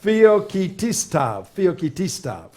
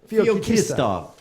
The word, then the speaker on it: Feoktistov: Feoktistov. There you go. That's phonetically. Feoktistov.